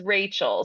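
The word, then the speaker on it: Rachelle: it relle spelled weird it's spelled like relle r a c h e l l e but it is Rachel so I okay perfect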